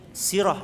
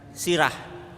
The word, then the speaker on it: sirah: Nabi Sallallahu Alaihi Wasallam bacanya itu bukan sirah ya nanti dikira sirah yang berarti apa kepala ini baca ya adalah si Sirah ya sirah Nabi Sallallahu Alaihi